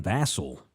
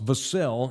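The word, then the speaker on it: Vassell: the Devin vassel now it's vasel and he's really good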